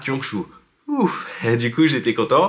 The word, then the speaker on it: Gyeongju: pouvoir le dire hein ça s'écrit jyongchu mais ça se prononce kyongchu ensuite de la gare